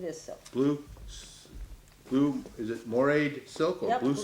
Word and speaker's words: moiré: Treated by, Yeah, it's it's just just, it's moiré. moiré silk. Okay. oh, it's called Okay. moire silk. Yeah. Yeah. How you spell it?